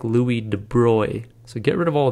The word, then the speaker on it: de Broglie: named Louie de Bry now it looks like you pronounce this Loui de brogley and that's what I always said I always read this and I said de brogle in my mind and I knew that wasn't right if you look it up